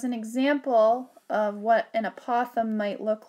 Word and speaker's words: apothem: to write the word I'm just going to spell it and then I'll say it for you a p o t h e m and you say that apothem apothem and the